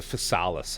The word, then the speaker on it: Physalis: It's the Fales, I think, is what it's how it's supposed to be pronounced.